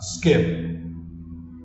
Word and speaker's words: skip: é keep sk keep corta o p Fecha a boca Ah skip skip corta então é mudo isso aí é